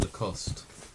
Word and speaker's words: Lacoste: It's pronounced Lacoste. Lacoste. I think it's it's French.